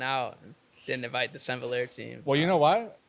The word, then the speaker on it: S'envoler: Yeah, I feel like a lot of people say Saint-Valère, Saint-Valère, Saint-Valver, Saint-Valère. Yeah. Which is all cool. Whatever you... It's called Saint-Valère, though.